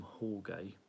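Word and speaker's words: Jorge: on the trot with storm hall gay that's how you pronounce it so all good unfortunately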